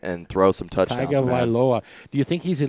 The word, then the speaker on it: Tagovailoa: Almost. Tua Tagovailoa. That's Hawaiian. You got to talk in syllables, you guys.